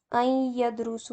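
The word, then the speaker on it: أن يدرس: इसको पढ़ते नून को नहीं प्रोनाउंस करते, अलिफ जो है या से, या के साथ कनेक्ट हो जाता है और फिर इसको इस तरह से पढ़ा जाता है आई यदरुसा। तो जो सीन पे दम्मा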